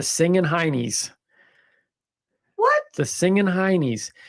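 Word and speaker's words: Singin' Hinnies: Now it's pronounced honeys in Northeast England, but nobody cares about the Northeast Englanders. But that's where it comes from. It comes from Britain, Okay. but the Northeast Englanders pronounce it as honey.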